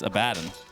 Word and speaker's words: Abaddon: I say Abaddon, even though it's incorrect. Right? How do you say that? It's Abaddon.